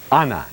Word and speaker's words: Ana: Ana, actually, it's the Spanish spelling and pronunciation.